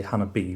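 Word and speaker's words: Hana-bi: we have hanabai or i always want to say hannah b but i've had other people pronounce it hannah bye so i'll just stick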